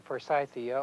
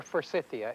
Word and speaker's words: forsythia: the spring flowering plants like the forsythia or forsythia and it may be pronounced either way should be pruned immediately